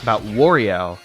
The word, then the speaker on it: Wario: myself about this, about Wario. His name's Wario, like, you're supposed to, like, emphasize a wa, but I always say war, like the bad stuff. And it's like, that's not how you say it, but my pronunciations are so lazy.